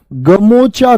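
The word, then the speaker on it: গামোচা: क्या पता है गमछा ऐसे बदल जाता है उच्चारण इसी गमछा को असम में क्या बोला जाता है गेमोचा कहा जाता है गेमोचा समझे मेरी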